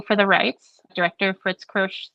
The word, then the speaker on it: Kiersch: Kiersch, I believe.